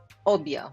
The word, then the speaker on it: Obeah: She says obia, well, specifically pronouncing it obia. Now, the pronunciation of this word is very key. It's obia. It's like it's 2 syllables.